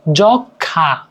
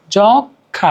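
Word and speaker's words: যক্ষ্মা: যাই হোক তারপরে কি যক্ষা জখা এইযে নাকে একটা হালকা টান দিচ্ছে যক্ষা সূক্ষ ঠিক আছে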